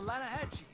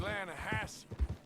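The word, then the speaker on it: Lannahechee: no no no no the the lana hatchy it runs right near here yeah but it's pronounced land hass why is everything in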